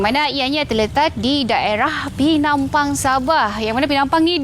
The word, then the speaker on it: Penampang: sebab untuk penampang ni walaupun ejaannya p p kan bunyinya macam penampang tapi sebutan yang betul ialah pinampang Kebanyakan orang kata orang-orang